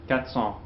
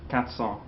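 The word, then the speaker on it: quatre cents: Speedy natural speech um if we have cat Follow by a consonant sound I think you hear most French people won't pronounce that R okay you hear katong okay what it's a vow coming after like like four students or 4:00 okay The Vow comes next you hear that R but consant comes after it tends to be dropped okay that's why I pronounce katson katson that's probably the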